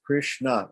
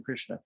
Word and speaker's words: Krishna: Now, if I want to make the next, so there's 2 syllables in Krishna, Kri and Shna.